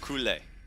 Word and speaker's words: Kaylee: Why is Kaylee pronounced Kule? I don't know, but if that's what you tell me, then I'm going to go with it. Oh, Kaylee is a guy, but it's pronounced Kule.